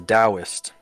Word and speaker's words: Taoist: you said your character is a Taoist, which, by the way, that's how it's pronounced. Yeah, Taoist.